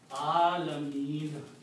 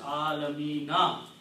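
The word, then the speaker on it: العالمين: the stopping is that if you want to stop here, then look at the last letter, noon. Whatever is the harkat on that last letter, here is a fatha, do not pronounce that. Okay, so you pronounce Alameen. Just like there was no harkat. But if you continue pronouncing, you will have to pronounce Alamina. You cannot pronounce anything else.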